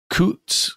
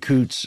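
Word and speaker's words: Coutts: fiance is there uh David Coots I believe is how you say his name c-o-u-t-t-s and there is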